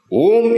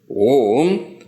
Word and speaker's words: Om: Om has got 3 syllables. Om, the Akshara Om is constituted of 3 syllables. What are 3 syllables? A, U, Ma.